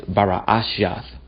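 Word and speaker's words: בראשית: book of Genesis now how do you say Genesis in Hebrew it's bara ashes which means in the beginning okay now watch this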